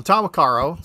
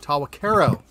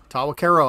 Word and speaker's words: Tahwahkaro: so these are well tomokaro so uh what i've got or i'm sorry tawa karo tawa cairo i believe is the correct pronunciation i'm rubbing off on